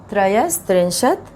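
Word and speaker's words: त्रयस्त्रिंशत्: तो इस तरह से उच्चारण करना है इसका, त्रयस त्रिंशत, और ये 33 बन गया।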